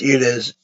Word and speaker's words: Ines: I don't care if it's supposedly pronounced Ines, like Volley does, like her friend Volley Kroger. Okay, I say Ein's. To me, that sounds better. It looks more like it would be pronounced Ein's.